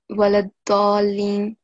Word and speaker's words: ولا الضالين: I'm not sure why, but anyway, so here you did not prolong this waladallin for 5 seconds.